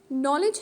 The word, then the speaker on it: knowledge: the first one knowledge knowledge has also got two syllables the stress is on the first one that is k n